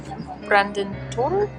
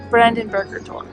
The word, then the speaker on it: Brandenburger Tor: Welcome to the Brandenburg Gate, or Brandentor? Brandenburger Tor. My apologies for the mispronunciation.